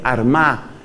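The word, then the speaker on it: Armagh: sede de San Patricio fue Armá, que se escribe con GH al final.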